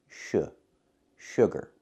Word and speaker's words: sugar: sugar it's pronounced sugar don't use a long ooh like food and moon use the short uh like good and book uh sh sugar example soda has a